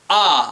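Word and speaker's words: あ: order um okay here the first one is pronounced ah I'm going to get closer so you can hear a little bit better a a a just an a sound oh you know like an opera dude a to write that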